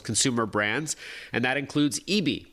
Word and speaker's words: ibi: He's Director of Product Marketing at Western Digital's Consumer Brands, and that includes Eebee by SanDisk. Again, it's spelled IBI.